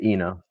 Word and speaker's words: Enoh: Uh is it Eno? Is that how you pronounce it? Yeah, Eno. Eno.